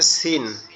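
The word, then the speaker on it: س: তো এই সিনটা উচ্চারণটা, আমরা যে ঝা যে অক্ষরটা উচ্চারণ করছি, এই সিনটাও একই জায়গার থেকে উচ্চারণ হবে, জিহ্বার আগা সামনের নিচের দুই দাঁতের আগার সঙ্গে লাগবে, লেগে হালকা আওয়াজে উচ্চারণ হবে, সিসির আওয়াজে সিন, সিন, সিন, সিন, সিন।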